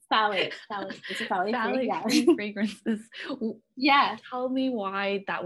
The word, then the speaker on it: phthalate: know how to pronounce PHTH, how do you pronounce? Phthalate fragrances.